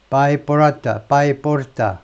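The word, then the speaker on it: Paiporta: in the town of 바이포르타 하면 되죠. 바이포르타 그대로 스펠링대로 이 마을에 도착할 때,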